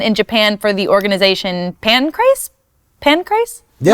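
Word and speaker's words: Pancrase: Japan for the organization Pancras pin Christ butchered a lot of people say pancreas you know the thing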